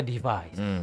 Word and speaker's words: DEV_IS: Tulisannya dev_is. Tapi dibacanya device gitu.